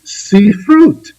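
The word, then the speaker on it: ספרות: in the ancient language, ended in ut, the letters vav, tav, pronounced ut, they coined sifrut for the word for literature.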